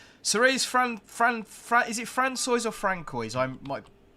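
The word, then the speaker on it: François: Oh dear, it's pronounced Francois.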